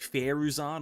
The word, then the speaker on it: Faruzan: of a Faruzan, or I believe I looked it up at the pronunciation. It's like Faruzan or Faruzan, something like that.